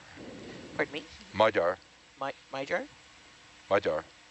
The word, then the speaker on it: Magyar: Magyar. Pardon me? Magyar. Magyar? Magyar. So you can't pronounce that G-Y either.